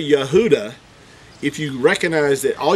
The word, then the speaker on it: Yehuda: I have it is the is the name Yehuda this is the tribe of Yehuda and it's spelled exactly the same way that you would